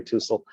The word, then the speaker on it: Tuisl: pronouncing my name right 99 the people don't pronounce it right two sold you are correct it's t-u-i-s-l tussell and um you can hit my website or